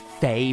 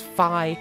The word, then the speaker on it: Fi: that to mean that f I must be pronounced Fae because they can't understand how Japanese spelling works and again you're objectively wrong its Phi that's the only option end of discussion semantics